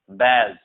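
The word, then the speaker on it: badge: देखो डी तब साइलेंट होता है जब जीई के जस्ट बाद हो। डी तब साइलेंट होता है जब जस्ट जी के बाद, जैसे हम पढ़ेंगे ब्रीज, बैज, जज, ठीक है, एज।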